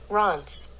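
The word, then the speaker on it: Reims: second france apparently bronze it's like r-a-a-n-s that's how they're ron's yeah oh how they what okay ron's because it's spelled r-e-i-m-s right yeah yeah right oh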